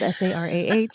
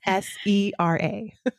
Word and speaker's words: Sera: So people can find that easily because it's spelled, well, I'd like to think it's spelled Sarah. It's not. It's Sera. Sera.